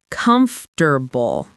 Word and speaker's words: comfortable: look at this word and say comfortable, 4 full syllables, and that sounds very careful. Right, very textbook. But here's how Americans actually say it in natural everyday speech. Comfortable. Comfortable. 3 syllables. That middle part, forta, kind of disappears in fast speech.